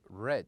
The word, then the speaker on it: read: and we said that if we want to pronounce it in the present we would say read but in the best we would say red so this is the